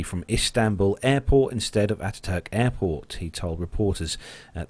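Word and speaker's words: Atatürk: So the gradual shift from Ataturk Airport, I think that's how you pronounce it, Nev? Ataturk? Yes, yeah. Ataturk, yeah.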